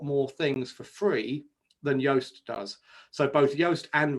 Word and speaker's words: Yoast: very similar plugin called yoast which is spelt like toast but with a y at the start um and yoast has